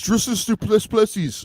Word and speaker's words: Dricus Du Plessis: Where's the one time he's like, "You're saying my name wrong. It's Dricus Du Plessis," and then whatever.